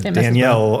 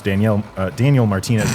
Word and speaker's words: Daniel Martinez: easier to pronounce, and I said Danielle, unfortunately, so I apologize. Orbea's CEO, whose name is much easier to pronounce, Daniel Martinez.